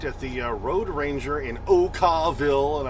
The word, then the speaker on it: Okawville: Okay, so here I am parked at the Road Ranger in Okawville, and I always say it that way because that's the way it's spelled. O-K-A-W-V-I-L-L-E. That's Okawville.